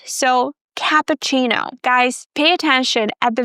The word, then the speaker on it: cappuccino: And then since this is an Italian word, the double C is pronounced as the ch sound, so cappuccino.